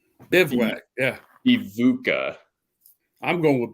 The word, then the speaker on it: bivouac: It's Bivouac. It's pronounced Bivouac.